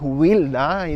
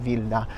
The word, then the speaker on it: Wilda: today I'm in vilda vilda in Poland it's pronounced vilda not wilda there is w at the front pretty easy